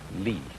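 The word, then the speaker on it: 理: wood or the fiber in muscle and it's pronounced lee this is a character then meaning really the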